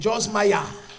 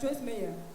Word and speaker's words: Joyce Meyer: C'est Joyce Maya. It's Mama Joyce Meyer. Même prononcé au nom, tu ne connais pas.